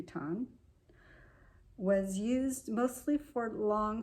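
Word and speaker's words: WTON: Ton, which stands for White Terrier of the North, it's spelled W-T-O-N, so I believe the W is silent, so that would be Ton, was used mostly for long flying shots.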